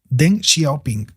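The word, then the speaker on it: Deng Xiaoping: eh con den shoping xia ping sí se pronuncia así den xiaoping perdón pero mi chino No anda muy fluido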